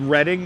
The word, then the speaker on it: Reading: Oh, you happy I said Reading? Yeah. I'm a stickler for pronouncing places correctly.